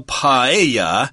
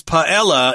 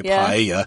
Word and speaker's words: paella: dishes that are really renowned here uh well paa is how you would say it in Spanish although my dictionary says paella is acceptable I suppose people would pronounce it